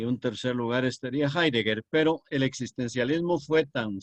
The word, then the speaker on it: Heidegger: el filósofo alemán Martín heidegger que se escribe con h H heeger dog Eider dog y se pronuncia heidegger es muy probable que